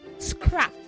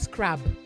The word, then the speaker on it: scrap: Also say to you, Bella, scrap, not scrab.